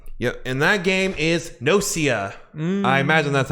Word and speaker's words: Gnosia: and that game is no sia i imagine that's how you pronounce imagine the g is silent like in gnome yeah that takes yeah